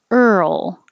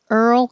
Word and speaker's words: Earl: So your tongue goes to the R position and then you move it to the L position. And while you make that movement, you keep making voicing. And that's what makes the roll noise.